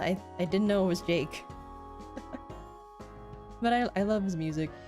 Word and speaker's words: JVKE: So I didn't know that you pronounced this man's name as Jake. I thought you just had to say the letters out loud. I thought it was just JVKE.